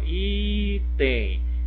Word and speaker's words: item: Ó, a sílaba tônica é o I, não foi a última sílaba, né? Por isso que ela não recebe acento, apesar de ter a terminação em EM.